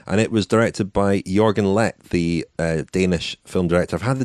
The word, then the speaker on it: Leth: And it was directed by Jørgen Leth, the Danish film director. I've had the Danish pronunciation police onto me already. It's Leth, not Leth, apparently.